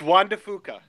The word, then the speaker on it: Juan de Fuca: Oh, I think it's pronounced Cascas. No, Juan de Fuca. Did I fumble the geologist? It's Juan de Fuca.